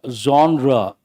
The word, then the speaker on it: genre: first one hold the third one this is pronounced as zra Zer or zra means style if you take